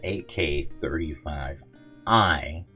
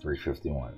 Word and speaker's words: AK35i: been saying it wrong this is the AK 35 I Max not 351 AK 35 all right